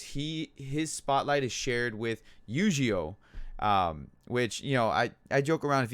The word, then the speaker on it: Eugeo: If you guys join me on my live streams and whatnot, I joke around, and I call him Yu-Gi-Oh, because I mean they're pronounced the same.